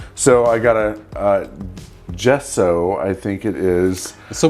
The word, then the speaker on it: gesso: i got a uh gesso i think it is so one adjective someone did jessa jessa no it's definitely an o at the end so someone definitely shouted